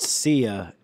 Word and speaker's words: Sia: So It's pronounced Sia, and she does this song Chandelier.